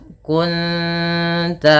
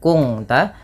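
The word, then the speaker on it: كنت: Cara membacanya bukan kung ta, tapi menyamarkan bunyi suara nun kepada ta dan ditahan bunyi dengungannya 2 harakat. Kunta bukan kungta, nanti berbeda bunyinya. Kemudian melafal 'alaiha illa lina'lam.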